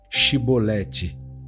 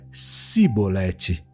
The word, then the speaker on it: Chibolete: E dizendo ele não, então lhe diziam: "Dize pois chibolete". Porém ele dizia cibolete, porque não o podia pronunciar bem.